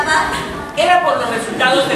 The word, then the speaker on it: Bach: Se pronuncia Bach.